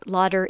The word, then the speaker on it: Lauder: it's called Estee Lauder Lauder is pronounced with the English pronunciation and there are a